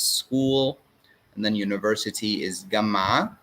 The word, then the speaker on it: جامعة: If you notice, I said جامعة because ta marbuta is pronounced when it's belonging to something. So the University of New York, this of, we pronounce the ta marbuta.